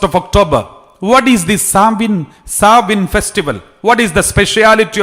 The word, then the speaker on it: Samhain: The spelling is Samhain, but it is pronounced as Samhain Festival.